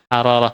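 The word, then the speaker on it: حرارة: Bil hararah asuru Bil hararah bukan bilh ya Nah di situ hararah rnya dobel nah menunjukkan ketika ini Harun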